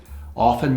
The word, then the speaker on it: often: Often, sometimes pronounced often. I think both are acceptable.